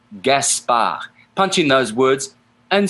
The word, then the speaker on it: Gaspard: Gaspard ends with a D, but it's not pronounced in French. Gaspard.